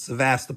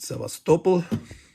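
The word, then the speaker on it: Sevastopol: vulga there's Stalingrad here sast got to get the accent on the right syllable not sast but sast rostov kov Eve say it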